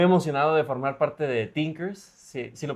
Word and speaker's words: Teenkers: Eh, pues ahora sí que muy emocionado de formar parte de Tinkers. Sí, sí, lo pronuncié bien.